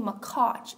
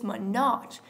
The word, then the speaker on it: Minaj: okay for one Hanah her name is not Nicki makach it's minach Nicki minach not Nicki